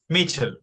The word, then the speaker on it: Michel: Hasta más tarde no hay problema, dice el hermano Michel, o no sé si se pronuncia Michael. Mitchell, como Platini.